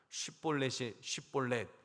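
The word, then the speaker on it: 쉽볼렛: 그러니까 그러면 한번 발음해봐. 쉿볼렛 이렇게 발음해봐.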